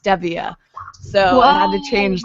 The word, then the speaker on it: Stevia: that's where I learned that Stevia is actually pronounced Stevia so it had to change the way that